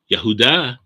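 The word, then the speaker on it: יהודה: for most people and we know that the ancient hebrew the vav which is a v sound had a w sound back then so is we believe it's probably the closest pronunciation yahudah with the dalit in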